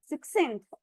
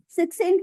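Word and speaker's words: succinct: सिक्सेंथ। सो हम ख और स दोनों साउंड प्रोनाउंस करेंगे एट अ टाइम, सी के बोलेंगे जी। क्या है वर्ड? सिक्सेंट मीन कंसाइज, शॉर्ट, मुख्तसर, टू द पॉइंट।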